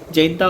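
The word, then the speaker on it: Jaintia: ठीक है, जैंता और जैंतिया इज द वे you right it, एंड जैंता इज लॉट of local pronunciation वैसा होता है।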